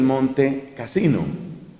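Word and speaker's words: Montecassino: Italia que es el monte casino muchas veces ya se pronuncia eso pegado Monte casino y en el monte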